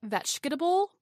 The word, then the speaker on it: vegetable: As you said, vegetable becomes vegetable and difference becomes difference.